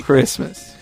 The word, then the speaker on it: Christmas: and good oldfashioned Mone nobody pronounced the T in Christmas yeah nobody Christmas just just be my